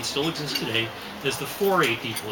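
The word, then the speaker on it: Fore: as and they still exist today as the 4a people it's just spelled f-o-r-e but it's pronounced chlorine okay and tribal folks very very primitive they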